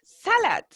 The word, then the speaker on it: salad: Number 6, salad. Salad. Exacto, ¿cierto? Cargamos la voz en la primera sílaba. Ahí muy sutilmente está ahí subrayado el sa, ¿cierto? La primera sílaba de la palabra, para que ustedes ahí tengan en cuenta.